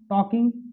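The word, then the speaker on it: talking: अब बात करना किसके माने हुआ, टॉकिंग। टॉक मतलब बात करना, तो यल, इसमें यल साइलेंट रहता है, तो टॉकिंग, whom बाज ही टॉकिंग।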